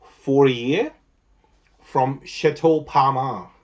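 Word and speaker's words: Palmer: a year from Chateau Parmar. Did I say it right? Parmar, but I think it's a P-A-L-M-E-R, Parmar, not kind of my last name, but I like how it sort of rhymes.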